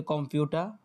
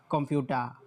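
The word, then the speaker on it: Computer: এর উচ্চারণটা আসবে না যখন এ আর ওয়ার্ডের শেষে একেবারে মানে শব্দের শেষে বসে তখন আর আর এর উচ্চারণটা আসে না।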